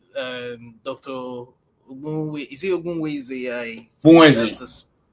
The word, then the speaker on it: Ogbunwezeh: Is it Ogbunwezeh? Ogbunwezeh, yeah. Yeah. I know I did try when it comes to pronouncing.